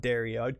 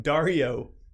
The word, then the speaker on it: Dario: as I think so I would call him not dare yard call him Dario Dario anyway like Mario but then again people